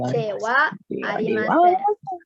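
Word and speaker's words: ではありません: D, Tapi karena di sini sebagai partikel huruf H dibaca wa ya, jadi wa dewa arimasen ya.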